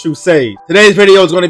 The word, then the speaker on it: True Sage: It is True Sage, and of course, as always, it is pronounced True Sage.